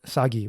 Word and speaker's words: 사기: In Korean, they call it sagi, which basically just means history.